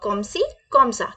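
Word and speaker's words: comme ci comme ça: है तो हम कैसे बोलेंगे उसको कोमो सॉरी कॉमसी कॉमसा कैसे बोलेंगे कॉमसी कॉमसा कॉमसी कॉमसा कॉमसी कॉमसा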